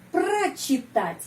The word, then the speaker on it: прочитать: Совершенный вид глагола, kata kerja perfektif, прочитать, ya. Di sini ada awalan kata kerja, pro. Bacanya pra, karena прочитать, penekanannya pada huruf A.